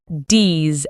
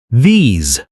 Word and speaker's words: these: These and those start with a soft TH sound, Your tongue comes slightly between your teeth. not D's and dose. No, not dis and that. Say it clearly. These.